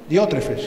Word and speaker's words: Diótrefes: También habla de Diótrefes, o Diótrefes. Diótrefes creo que es. A ver, ¿lleva tilde? Sí. Diótrefes, sí.